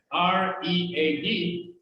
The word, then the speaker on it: read: Y se escribe exactamente igual, así, mira. R-E-A-D, pero lo pronuncias diferente.